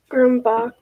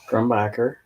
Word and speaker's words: Grumbacher: Ooh, you're gonna have to pronounce that one. Grumbach. No. Grumbacher.